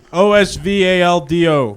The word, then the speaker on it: Osvaldo: It's like Oswaldo, but with a V. Osvaldo.